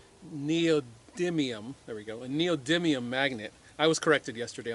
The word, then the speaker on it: neodymium: The little paddle has a neodymium, there we go, a neodymium magnet. I was corrected yesterday on the pronunciation of that.